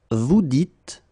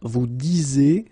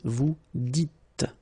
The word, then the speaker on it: vous dites: So it's not vous disez, okay, as many would think, but then it's vous dites, okay, final S not pronounced, vous dites.